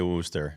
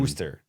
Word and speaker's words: Worcester: Why don't none of the guys can pronounce Worcester? They all say Worcester. And Worcester.